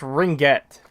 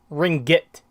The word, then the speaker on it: ringgit: it's sorry krutosis and it's pronounced ringget ringgit okay really very ambitious